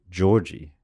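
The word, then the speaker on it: Gyorgy: give two different pronunciations one was an American guy and he said it's Georgie spelled gy o rgy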